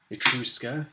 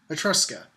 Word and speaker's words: Etrusca: It is not Etrusca. It is, in fact, Etrusca.